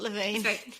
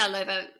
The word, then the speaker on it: Loiva: By the way, Loiva. I don't know. Because I keep thinking of Loewe. It's not Levine. It's not Levine. I think I say Loiva, and I think they pronounce it Loiva.